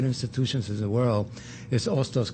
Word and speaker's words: Hostos: And let me just say an aside, one of my favorite institutions in the world is Hostos Community College, not Hostos. The age is silent. Hostos.